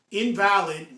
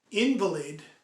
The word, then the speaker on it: invalid: So invalid means not good anymore. Okay? That's an adjective. However, invalid, which is a noun, is pronounced differently.